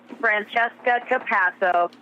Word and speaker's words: Francesca Pato: more than one denunciation did I pronounce your name correctly yeah yeah exactly the way I would pronounce it Francesca Pato of course my relatives